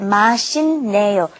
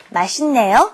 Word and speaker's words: 맛있네요: When that 있다 comes up against an N, a nian, then you have to pronounce it as another N. 맛있네요. So let's practice this pronunciation. You should pronounce it 맛있네요. 맛있네요.